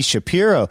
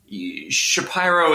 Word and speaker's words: Shapiro: know I think that Shapiro is is really the right way to say it and Shapiro is some sort of Ellis Island deviation and that's that's that's